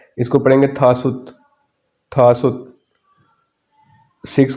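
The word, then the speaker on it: 다섯: कहते हैं ने ऐसे फाइव है इसको पढ़ेंगे था सुत थासु सिक्स को पढ़ेंगे युत और सेवन को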